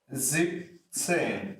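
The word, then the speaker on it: siebzehn: fifth same foreign 17 will be zip same now what's the difference here in Z we have this s here in X but in Z10 we are not using that so in section it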